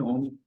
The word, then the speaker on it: ओम: व ने बताया था तीन ओम तीन चीजों से बनते हैं आ म उ हम इसको फोकस करेंगे